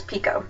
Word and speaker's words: Picoult: is by Jody pult it's not pult it's Pico jod Pico and um I just I really